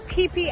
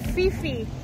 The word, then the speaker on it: Phi Phi: It is Phi Phi Islands. It is not Phi Phi. It is Phi Phi. That's how you pronounce it here.